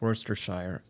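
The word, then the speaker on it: Worcestershire: He was born in Worershire and however you want to pronounce it in 1857. Go ahead, correct me. Elgar Worst Worstershire. Worershire. Yes. Yeah. Yeah. Yeah. No, it's Worister, but but it's Elgar.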